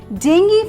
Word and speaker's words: dengue: n g e e j let's understand this pronunciation with an example the experts are now predicting dengue fever will be showing up here soon so